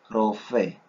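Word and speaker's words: רופא: Recordemos algo acá, hermanos, que la pronunciación de esta letra, la resh, no es como decir ferrocarril, con una entonación de sierra en nuestros dientes para pronunciar la R. Esto es más sutil. Rosh, como decir rosa. Uno no dice rosa, sino rosa, rosa. Entonces, así tiene que ser nuestra pronunciación con esta letra.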